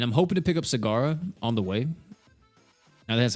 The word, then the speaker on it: Sagara: And I'm hoping to pick up Sagara on the way.